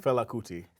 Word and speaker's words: Fela Kuti: How you pronounce his first name? Fela Kuti.